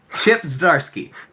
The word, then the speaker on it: Chip Zdarsky: Chip Zdarsky.